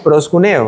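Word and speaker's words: προσκυνέω: Entonces es hacer reverencia a es adorar, suplicar como una acción y se pronuncia para nosotros en español aproximadamente como proscuneo, ¿verdad?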